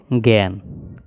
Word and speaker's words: জ্ঞান: আর এটা হচ্ছে প্রজ্ঞা এই জিনিসগুলো আমরা উচ্চারণের সাথে বানানের মিল খুঁজে পাওয়া যাবে না কিন্তু এগুলো আমাদেরকে এই